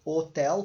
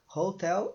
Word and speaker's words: hotel: O som tá então se você falasse Hotel como em português que o h está ali só representando mas ele não tem som daí tudo bem daí não seria a mas aqui como é R Hotel então nós utilizamos o a